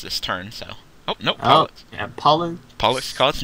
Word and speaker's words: Pollux: Oh, no, Pollux. Oh, yeah, Pollux. Pollux Koss, another Pleiades? Actually, it's a French name, so it's a silent X, so it's Pollux.